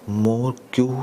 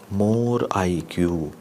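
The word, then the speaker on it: Morquio: most common muco polysaccharidosis more q syndrome type 4 yes i make i do pronounce it like that more iq more iq pronunciation means no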